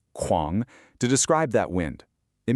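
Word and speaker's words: 狂: The poem uses the word kuáng, pronounced kuáng, to describe that wind.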